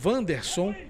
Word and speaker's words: Wanderson: Apesar de ter um W aqui, mas a pronúncia é o Wanderson.